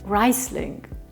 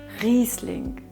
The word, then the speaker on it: Riesling: Riesling, Riesling, Riesling, Riesling Don’t say Reisling. It’s Riesling Well done!